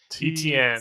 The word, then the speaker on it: Etienne: God, it's the first syllable always gets to you. Etienne.